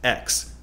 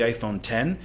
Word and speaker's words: iPhone X: iPhone before and knowing it would likely be mispronounced X but those things were all irrelevant does it really matter if people call it the iPhone X or the iPhone 10 either way it communicates the point that this